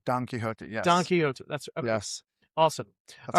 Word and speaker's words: Quixote: Don Quixote.